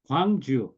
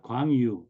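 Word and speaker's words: Gwangju: whatever you Jang and this is also wangu not Quang Yu okay so please please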